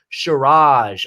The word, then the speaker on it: Shiraz: I had to look up how to pronounce that. It's Shiraz.